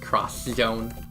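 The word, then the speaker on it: X-Zone: too which is hilarious it is pronounced cross Zone cross Zone cross your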